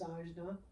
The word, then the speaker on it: Ajna: Your third eye, which I love the name, is Ajna, A-J-N-A.